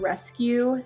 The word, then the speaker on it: Resqueue: And then my design business is called Rescue Studio. So sounds like rescue, like we're saving somebody, but it's spelled like Q, like an editing Q.